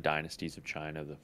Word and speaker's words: Qin: It's like, what are the 7 dynasties of China?